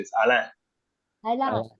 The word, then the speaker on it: Alain: be okay uh yes a French pronunciation it's Al okay thank you is